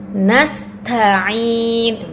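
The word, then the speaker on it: نستعين: Nasta'in. Kemudian huruf ain. Huruf ain ini keluar dari tenggorokan bagian tengah. Nah, biasanya kesalahan diucapkan dengan hamzah.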